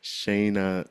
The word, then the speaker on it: Shana: I'm excited to finally have on the show Shayna Summers. I pronounced your first name right. You did. Okay, Shayna Summers and You got it.